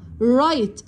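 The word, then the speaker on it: right: رايت، صحيح. رايت، بطريقة صحيحة. والجي اتش دي سايلنت وما بنطقهاش.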